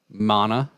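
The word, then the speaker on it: Maná: Mana with the accent on the A.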